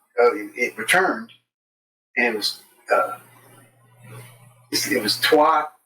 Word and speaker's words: Trois: Now, the movie is called Trois, three in French. Trois. But all the workers were getting this question. Hey, you got that movie Troy's?